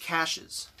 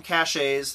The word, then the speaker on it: caches: And the last thing I want to go over is caches. Now, some people call them caches. That's not how it's pronounced. It's caches.